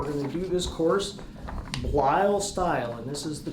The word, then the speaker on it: Bleil: It's Bleil, so it has kind of an unusual spelling. But remember, it's pronounced like it rhymes with style. We're going to do this course Bleil style, and this is the correct spelling, B-L-E-I-L.